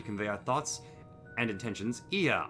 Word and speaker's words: Ea: When the vibration of vocal folds was still required to convey our thoughts and intentions, Ia, I believe, was the pronunciation used to refer to our people.